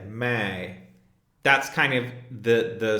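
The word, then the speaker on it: मैं: the end of it it's kind of nasalized so if you hold your nose and say May that's kind of the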